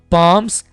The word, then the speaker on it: palms: palms, यहां पर एल को साइलेंट रखेंगे, palms अगेंस्ट ईच अदर, दुआ करना।